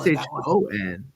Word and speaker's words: Shon: SHON. Oh, okay. Yeah. Like Sean.